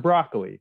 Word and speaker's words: Broccoli: Broccoli, which is my last name. It's spelled exactly like the vegetable.